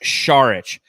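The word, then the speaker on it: Šarić: just like and and montana says it's pronounced sharich i ain't pronouncing his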